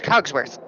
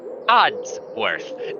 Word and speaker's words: Oddsworth: Where's Cogsworth? Maybe if you would say his name right, he would actually come. It's Oddsworth.